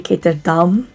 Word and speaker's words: Ketterdam: Like, even Ketterdam would be Ketterdam.